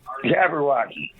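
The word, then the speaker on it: jabberwocky: de you SC Edward uh jabber Walky yeah jabber Walky j a b b e r w o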